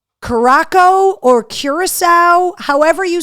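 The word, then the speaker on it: Curaçao: um nice reach there Curacao is how you pronounce it okay I always wondered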